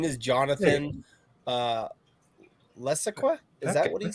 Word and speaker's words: Levesque: All right, clarify the last name. It's pronounced Levesque. Levesque.